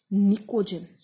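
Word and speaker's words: pnictogen: और नाइट्रोजन family को, ये थोड़ा सा इंपॉर्टेंट है, नाइट्रोजन फैमिली को आप निकोजन भी बोलते हो, पी साइलेंट।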